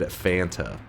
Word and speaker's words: Fanta: told it was it's supposed to be said Fanta that is how it's supposed to be that's how they say it in Germany that my pronunci ation of font is wrong.